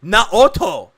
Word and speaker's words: Naoto: pronounced it looks like it's pronounced naoto not automobile visible welcome to the